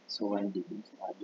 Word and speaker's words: Suwandi: Nah, kemudian yang kedua adalah ejaan Suwandi, Sowandi bacanya, atau Republik ya, disebutnya juga.